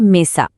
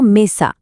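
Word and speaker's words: mesa: স্প্যানিশে এই টেবিলকেই বলে মেসা। আমরা শিখেছি ই মানে এ আর এ মানে আ, তাহলে মি মানে মে আর সা মানে সা মিলে হলো মেসা, মেসা।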